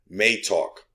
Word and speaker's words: MeiTalk: i just dropped but they let me know that it's pronounced may talk okay so now we